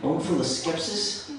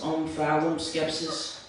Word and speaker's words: omphaloskepsis: Omphaloskepsis? Yes. Could that also be pronounced omphaloskepsis? It could. It would be wrong.